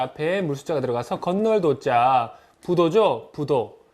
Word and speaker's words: 부도: 아니 불자는 부로도 발음이 되는데요. 그 부로 발음될 때는 뒤에 바로 붙는 자음이 디귿이나 지읒일 때 부로 발음이 됩니다. 예를 들어서 자, 헤아릴 도자 앞에 물숫자가 들어가서 건널 도자 부도죠.